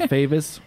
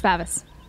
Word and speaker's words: Favis: It's not Favis? No, it's Favis.